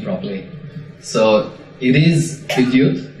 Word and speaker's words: Bidyut: So it is Bidyut. It's best broken up into two little parts. So Bid and Yut.